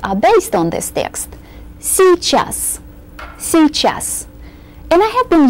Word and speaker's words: Сейчас: Сейчас. By the way, these 2 letters give us only one E sound. Сейчас. We can make it a little shorter in pronunciation than it looks on paper.